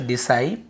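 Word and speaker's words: disciple: साइप ठीक है ऐसे डिसाइल डिसाइल पढ़ते हैं अब यहां पे आप देखेंगे यहां पर भी आपको सी का उच्चारण डिसाइल क्योंकि आई को हम आई ही पढ़ रहे डिसाइल ऐसे पढ़ रहे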